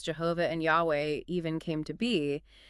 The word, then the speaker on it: Yahweh: in ancient Hebrew but I've heard people say Yahweh Yahweh is what a lot of Scholars think is the most likely pronunciation based on the evidence we do have okay so Yahweh is